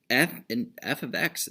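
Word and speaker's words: f(x): F of x, this is one symbol, okay? It is not multiplication. Not multiplication. It's not f times x. It's pronounced f of x.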